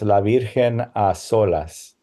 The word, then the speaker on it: La Virgen a solas: Okay, without the S? It should have the S, La Virgen a solas.